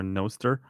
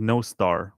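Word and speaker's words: Nostr: my stuff on Twitter noer actually it's pronounced noar which means good night in Welsh this is something I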